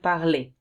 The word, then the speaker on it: parlez: For vous, you have to write ez, and remember you say et, vous parlez.